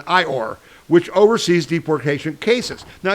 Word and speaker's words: EOIR: The tool for this deception was the DOJ's Executive Office for Immigration Review, EOIR, pronounced like Winnie the Pooh's donkey friend, IOR, which oversees deportation cases.